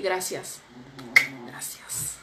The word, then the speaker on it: gracias: Could you say gracias? Okay. Yeah, why not? I mean, I would say gracias. Because I'm from the north of Spain. So we pronounce the C like tha.